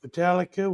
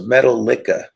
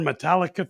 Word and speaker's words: Metallica: Metallica. Went and saw him at the Cowboys Stadium. Oh, is that how you pronounce that name? Metallic. Oh, I thought it was Metal Licka.